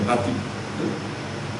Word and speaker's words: nothing: 그리고 하나님이 모세를 또 40년간 nothing, 번데기 발음을 잘해야 돼요. nothing.